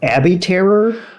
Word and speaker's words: abattoir: area into an abattoir so we know this word is a BA TT o IR I believe that's pronounced Abby terror into a little bit